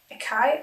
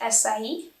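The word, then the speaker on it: açaí: Uretape oligacea fruit extract is acai, or no, that's not. That's where we say it wrong. The right word, I think, is acai, and it's an antioxidant.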